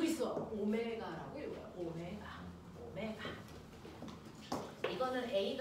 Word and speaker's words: 오메가: 속도라는게 있어요 각속도는 우리가네 이거는가 아니고 그 있어 오메가라고 읽어요 오메가 오메가 이거는 a 아니고 알잖아요 이건가 아니고 벡타아요 됐어 얘는 오메가라고 읽어요가 아니고 됐어 오메가 자 각속도를 표현하는 거